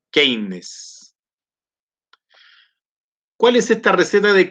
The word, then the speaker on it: Keynes: llama Keynes, John Maynard Keynes, y que de hecho da origen a una lógica económica que se conoce como el keynesianismo político. Se escribe Keynes con Y y con K, Keynes.